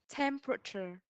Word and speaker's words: temperature: Temperature. Chính xác. That is the way we pronounce the word.